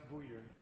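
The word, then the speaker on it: Buyer: Byer, for 60 minutes. Mr. Speaker, it's pronounced Booyer.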